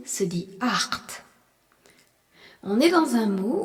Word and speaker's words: acht: Et EN à la fin, qu'on retrouve souvent à la fin des verbes et qui se prononce EN. Le nombre 8 se dit acht.